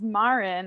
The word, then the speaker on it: Maren: Don't get it twisted. It's not Maren. It's not Maren. I know it sounds like it could be, or reads like it could be. Nope. My name is Maren.